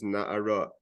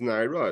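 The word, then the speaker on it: נערה: Again, the pronunciation is na'ara. She didn't do any sin that's worthy of death. So the writing is nar. The pronunciation is na'ara.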